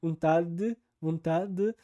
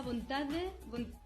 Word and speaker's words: vontade: Por favor, senhor, tira de mim essa vontade. Ou seja, primeiro ela pronuncia como ela normalmente pronunciaria se ela lesse a palavra, vontade, com o D e o E, naquelas posições tradicionais para quem fala espanhol, por exemplo.